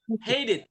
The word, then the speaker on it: hated: hated, Hated. hated, Jadi T-nya itu berubah jadi kayak D.